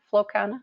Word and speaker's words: Flow Kana: She is currently the Vice President of Community Development for Flow Kana. Is that how you say it, Amanda? Flow Kana?